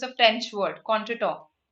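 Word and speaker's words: contretemps: means against contra and this temps here which is pronounced as to right this temps means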